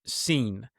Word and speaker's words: Sin: as the moon god seen. Now it's spelled like if you were to spell the word sin s i n but it's pronounced seen as if I have seen something.